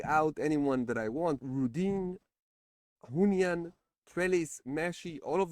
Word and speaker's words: Rodin: Rudin, Hunyan, Trellis, Meshi, all of them are good. My favorite now is Rudin. I think it's pronounced Rodin, but let's go with Rudin.